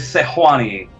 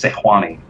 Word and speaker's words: Sejuani: jace and there's there's sejuani that's actually how you pronounce it uh if you sit in the live design area is sejuani uh and it looks